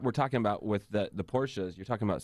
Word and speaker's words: Porsche: Oh, I thought you meant, how do you pronounce Porsche? It's Porsche.